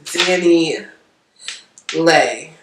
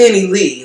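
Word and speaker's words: Dani Leigh: to start with miss danny lay yes it's lay because that's what miss um miss martinez pronounced it because i'm going to danny lee like i don't know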